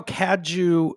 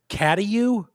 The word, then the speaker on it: Cadieux: I'm trying to think how Kaju is spelled, because that's like New Orleans style. CADIEUX. Yeah. Yeah. I think people would say Caddiu. Caducks.